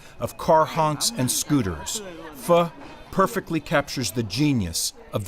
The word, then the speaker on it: phở: Emile a national treasure fuh is a widespread addiction many Vietnamese start the day with a steaming bowl of this divine noodle soup often mispronounced but immediately appreciated fuh is pronounced like fur with a soft are